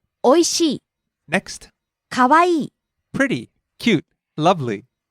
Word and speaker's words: おいしい: First we have おいしい、 delicious, tasty, おいしい、おいしい、 rising on the second syllable E, falling on the last syllable E. おいしい、 Next, かわいい、 pretty, cute, lovely, かわいい、かわいい、 rising on the second syllable Wa, falling on the last syllable E.